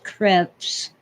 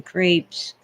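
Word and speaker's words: crêpe: pancakes are almost Crepes the real pronunciation is creps but most people in America anyway call them Crepes very thin eggy pancakes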